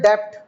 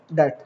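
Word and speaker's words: debt: बहुत इंपॉर्टेंट लफज़ है डेप्ट इसको डेप्ट नहीं पढ़ना इसको क्या पढ़ोगे डेट क्या डाल ये टेट ये डेट भी नहीं है डेट है एक्चुअली इसको यूं पढ़ो डेट ठीक है बी साइलेंट है एक्सटर्नल डे का मतलब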